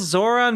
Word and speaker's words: Zohran: How how is it difficult to pronounce Zoran Mandani? It's It's not a It's not a hard name to pronounce. It's a It's a twocllable name.